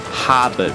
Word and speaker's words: Harbour: Botanical Garden and the Harbour Bridge orad's what locals say haba bridge begin time check for twenty PM Cassini Australia but it feels like 6:00 p.m.